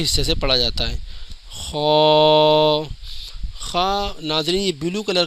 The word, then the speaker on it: خ: سے پڑھا جاتا ہے۔ خا، خا ناظرین، یہ بلو کلر کا جو حروف آپ کو دکھ رہا ہے یہ خا، اس کے اوپر ایک نقطہ ہوتا ہے اور یہ پر یعنی موٹا پڑھا جاتا ہے۔ دال، دال کا